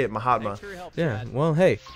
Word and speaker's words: Mahatma: it did it sound like he missed set Mahatma that's how you say it Mahatma yeah well hey it's not like he was